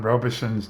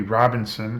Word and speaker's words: Robison: It should not be Robinson, as I pronounced it last time, but it's Robison. There's only one N in his name, in his last name, and it comes at the end.